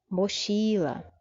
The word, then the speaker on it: mochila: Mochila. Mochila. Também a sílaba forte é a penúltima.